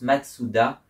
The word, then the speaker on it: Mazda: Mais du coup en japonais comme on peut pas mettre deux consonnes à la suite et ben ça se prononce Matsoua et le fondateur s'appelait Matsoua. Écrit vraiment Matsoua.